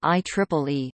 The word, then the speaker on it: IEEE: simply referred to by the letters IEEE, pronounced IEEE, except on legal business documents.